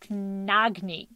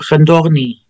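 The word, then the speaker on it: Khndoghni: Knagni. Not even close. K-H-N-D-O-G-H-N-I? Oh, Khandogni. Yes. Yeah, so the transliteration doesn't make much sense.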